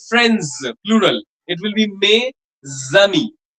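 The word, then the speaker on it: mes amis: The S will be pronounced like a zed. Like may will be pronounced as may z will be tz. Like my friends plural. It will be may zami not mayami.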